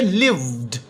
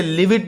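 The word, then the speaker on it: lived: अच्छा, हालांकि ईडी आया हुआ था, लेकिन मैंने इसे शोइड नहीं पढ़ा, मैंने इसे लिविड नहीं पढ़ा, मैंने इसे प्लेड नहीं पढ़ा, बल्कि मैंने पढ़ा है शोड, लिव्ड, प्लेड।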